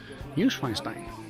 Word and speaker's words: Neuschwanstein: Neuschwanstein.